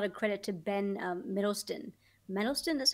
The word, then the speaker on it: Mendelsohn: Mendelsohn, that's how you pronounce his name.